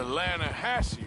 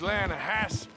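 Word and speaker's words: Lannahechee: drought you mean the atlanta hassie river no no no no no the the lana hatching it runs right near here yeah but it's pronounced land hass why is everything in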